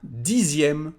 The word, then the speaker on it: dixième: And for 10, we say un dixième with the same pronunciation for the letter X.